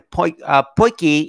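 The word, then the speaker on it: potjie: Oh, yeah, they pronounce it poiky, actually, which is, quite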